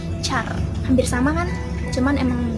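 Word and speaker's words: चार: Kalau di bahasa Hindi kita kenalnya sebagai Char. Tulisannya C H A A L. Char.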